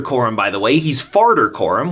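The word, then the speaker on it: Farder: He's Farter Coram, which is pronounced like a guy who farts, but spelled with a D.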